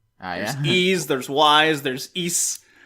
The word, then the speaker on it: Ys: seven different ways is jeez there's wise there's East it's actually pronounced wise wise w is e yeah it's Y posh